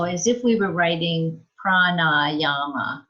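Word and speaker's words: prāṇāyāma: It's a long A and the N, prana. And is that second one long? Yeah, prana. Oh, and the last one wasn't. It's not.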